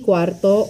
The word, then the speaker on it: cuarto: Cuarto, okay? Not to be confused with number 4, which is cuatro, cuatro, or cuatro.